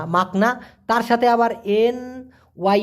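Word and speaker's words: makna: মেঝে মাকসুদ মাকসুদ অথবা মাকনা দেখুন এম এ কে মাক এন এ না মাকনা তার সাথে আবার এন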